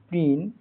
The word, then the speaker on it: preen: जैसे PREEN का उच्चारण प्रीन। यहाँ डबल ई का उच्चारण लंबी ई की तरह होता है।